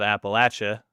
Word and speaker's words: Appalachia: I decided to stay down there a long time ago and plant my roots down on the picturesque foothills of Appalachia, how we pronounce it.